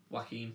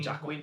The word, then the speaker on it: Joaquin: Joaquin. Yeah, no. I used to call him Jacquin because it's like Jacquin. Because that's how it's spelled, like Jacquin.